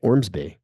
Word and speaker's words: Ormsby: Ormsby. Yeah, I just pronunciated it there's strong. there's a vowel at either end and Yeah. all consonants in the middle, and you just crash through it.